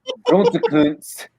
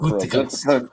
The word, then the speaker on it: Gutekunst: Aaron Rodgers recently compared GM Brian Gutekunst, okay, I think that's how you say his name for real. Gutekunst, whatever you want to say.